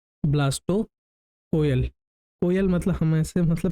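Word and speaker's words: blastocoel: प्रशन ब्लास्टो सल है पर ऐसे कोयल बोलने से बात य होती है कि याद रहता है कि स्पेलिंग यह हैसे स्पेलिंग का कोई फर्क नहीं पड़ेगा पर कई सारी चीजों में होता है इसलिए हम इसको ब्लास्टो कोयल बोल सकते हैं वैसे ब्लास्टो सल होता है ठीक मैं ब्लास्टो कोयल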